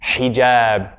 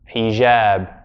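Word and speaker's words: حجاب: Now, but in that, remember the Jiim is j, hijab, not hijab. Right? I was almost hearing a zh sound.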